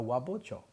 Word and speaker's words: wabocho: You combine wa, which means Eastern or Japanese style, with the word hocho, and the H softens up and becomes a B to make it easier to say because it's difficult to say. Wa hocho. So they call it a wabocho because it's more smooth to say that.